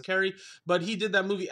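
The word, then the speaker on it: Kaare: I believe that's how you pronounce his name. It's K-A-A-R-E. I'm assuming it's Cary.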